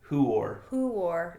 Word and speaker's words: Huor: But it's it's actually who there's no Y sound in there, right? Oh, I see. Who are there's an oo.